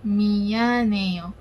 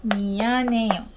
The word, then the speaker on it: 미안해요: So the first word of the day is미안해요, 미안해요.